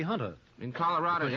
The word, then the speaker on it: junta: Well, it says the Junta, and I think that's pronounced Junta, but I think it ought to be Hunter.